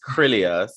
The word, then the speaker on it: Krylios: team well the name my name is krillius that's how i pronounce it and um we are